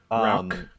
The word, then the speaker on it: Rauch: It's not Rouch. Is that Rouch? I think it's like Rauch. listening to like the guy from Schlenkerla, he says like Rock beer.